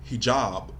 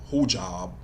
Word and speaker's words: hijab: have certain pronunciations and I always heard it pronounced hijob but they had her pronounce it who job I don't know about